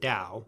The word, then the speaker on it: Dao: And in the Wade-Giles system, the T is pronounced as a D. Okay. So you'd spell the word Dao.